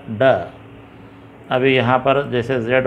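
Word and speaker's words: ڈ: अब तेलुगु में जैसे ट ठ ड ढ होता है वैसे ड है ये ड।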